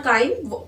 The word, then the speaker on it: chyme: ठीक है, जो आपके स्टमक से जो आपका स्टमक होता है that passes this chyme or chyme, the pronunciation is the wording is same।